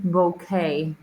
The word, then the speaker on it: bouquet: And here um we pronounce it bouquet. Bokeh. I think I think it comes from the French.